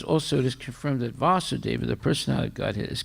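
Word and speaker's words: Vāsudeva: referring to krsna's father when it's vasudeva with a long a that's referring to krishna the son of vasudeva okay and and sometimes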